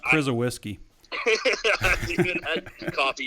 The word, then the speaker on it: Krzyzewski: It's pronounced Krzyzewski. I haven't even had coffee yet. That's why I was like, this is the podcast. Mike Krzyzewski.